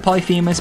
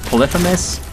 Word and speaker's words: Polyphemus: Everybody calls it Polyphemus, but I heard recently that it's actually pronounced Polyphemus.